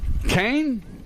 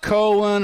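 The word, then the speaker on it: Koehn: Not Cohen or Keon, but Kane. Nova Kane.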